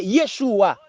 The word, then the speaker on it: Yeshua: Devant Shin yo mette Shououk qui se Vav avec un petit dagesh en dedans qui prononce comme ou Shououk. Et puis Ayin qui sont lettres silencieux, yo mette Kamas en bas li prononce Yeshua.